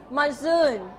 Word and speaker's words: monsoon: พร้อมกันค่ะ Moon เหรอ which syllable is stressed? พยางค์ไหนถูก stressed? The first one or the second one? Are you sure? The second one. Okay, repeat after me. Monsoon.